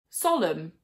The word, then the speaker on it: solemn: Many words that end in MB or MN do not pronounce the B or the N. For example, lamb, thumb, hymn, solemn, autumn.